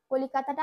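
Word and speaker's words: कलकत्ता: কলিকাতাটা আমরা যখন হিন্দিতে উচ্চারণ করব, এই কলকাতা এই লাস্টে যে তয়াকার ওখানে আমরা তয় তয় করি, আর সেই জন্য জোরে উচ্চারণ করব কলকাতা, এই যে কাত্তা বলছি তাই কলকাতা সে।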